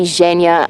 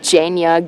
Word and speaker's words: Genya: pronounce that differently, but I'm pretty sure Zhenya is supposed to be Zhenya and not Genya, Genya, or any other weird variation of that.